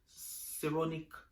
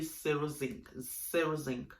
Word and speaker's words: Cerozinc: The name of the toner is called La Roche Posay Seronic. Is it? Am I right? Let's pronounce it again. La Roche Posay Cerozinc.